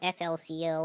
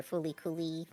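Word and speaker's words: FLCL: show but it has that kind of flco or fully depending on how you like to pronounce it uh feel to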